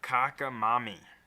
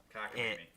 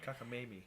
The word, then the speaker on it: cockamamie: Kakamami. Cockamamie. Kakamimi? Okay. Cockamamie.